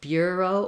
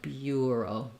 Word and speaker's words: bureau: tense diphthong rather than just ER so uh Bureau or Bureau Bureau it does still have that gliding ya sound and the second part of the word is the same these are somewhat unusual pronunciations for the bur uh we guess we don't have a lot of words spelled that way but we do have some other words like turn that have the ER sound or burn for